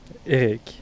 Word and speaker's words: Eric: Est-ce qu'il faut dire Eric Mongrain ou comment il faut prononcer le cas de Eric? Eric. Eric, d'accord. Eric. Bon. Les Américains ont dit Eric, mais qu'est-ce que tu veux, c'est comme ça, il faut faire avec.